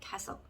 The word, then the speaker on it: castle: castle 이렇게 발음을 너무너무 하고 싶지만 T는 발음이 묵음, 자, 소리가 안 난다 라고 해서 발음이 나지 않겠습니다. 그래서 이 단어는 castle, 단어 뜻은 성이라는 뜻이 되겠습니다.